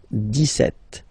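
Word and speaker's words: dix-sept: it's clear but then for the pronunciation det okay so you don't insist on the s deset deset deset okay Then so you will make this little link between the two the leazison.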